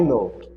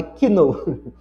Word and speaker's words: know: Por exemplo, você bota o seguinte, I know, lembra que é novo, não é? Não é kino, não é quase quase knó o caldo knor.